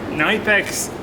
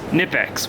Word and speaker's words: Knipex: All right, Nipex Cobras, Nipex, whatever. I know you don't pronounce the K.